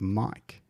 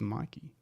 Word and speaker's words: mic: hang up my mic is it pronounced Mike why did I think it was Mikey I don't know uh